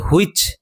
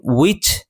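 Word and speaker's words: which: এই দুটি শব্দ উচ্চারণের সময় আমি হয় এর উচ্চারণ করে হুইচ এবং হোয়াইল এরূপ উচ্চারণ করিনি, যতবারই উচ্চারণ করেছি উইচ এবং ওয়াইল, অর্থাৎ হয়ের উচ্চারণ হয়নি।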